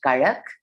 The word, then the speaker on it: Kadak: And this was actually for this anthology that was recently published and released by this Indian-based collective called Karak. It's spelled Kadak.